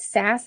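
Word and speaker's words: SaaS: Um, it's often actually pronounced SAS, like Sassy.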